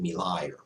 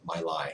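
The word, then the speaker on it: My Lai: village in vietnam uh called me liar my lie however you choose to pronounce it in any case i've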